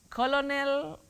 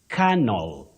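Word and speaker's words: colonel: you come to English many people innocently mistake that this word is pronounced the way it is spelled which is not the case you say canel Canal not colonal colonal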